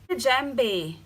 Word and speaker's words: Djembe: Djembe, actually pronounced Djembe, is a drum shaped like a